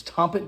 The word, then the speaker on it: Tompet: I think I might have mispronounced that in my unboxing, but it's Tompet Games.